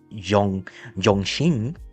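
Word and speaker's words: 中星: That actually carries the, reportedly carrying the China Set 4B, aka in, when you pronounce it in Mandarin, okay, especially in Chinese, it's basically Yongxing 4B, basically like that.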